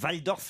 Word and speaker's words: Waldorf: Petra est une sculpture signée de l'allemand Marcel Waldorf, ou Waldorf si je dois prononcer à l'allemande, qui a 27 ans.